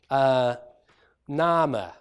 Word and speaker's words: name: varieties but for instance the word name would have been pronounced nama and that might sound familiar to you in certain ways if your speakers of German now then various things